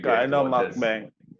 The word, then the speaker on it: mukbang: He's like, will you guys do a mukbang? Mukbang. I feel like I'm saying it wrong. Mukbang.